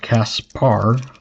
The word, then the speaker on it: Caspar: his name, but it it was pronounced Caspar, but it was um so it was C A S P A R but it was written down as Casper.